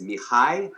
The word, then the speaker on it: Mihaly: The author's name is Mihai Csikszentmihalyi. I think that's how you pronounce his name.